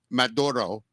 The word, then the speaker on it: Maduro: She literally said, Maduro, however you say it right. I don't speak Spanish, but she did. However you say that Gotta properly. get that R roll, man. Yeah. So Maduro, right? Maduro.